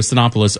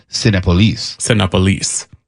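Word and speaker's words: Cinépolis: I got to stop you there because we've been mispronouncing it for all these years, and so I saw a commercial, and it's Cinepolis.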